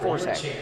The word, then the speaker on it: Forget: We'll go with Forget. That's how it's spelled phonetically on my sheet.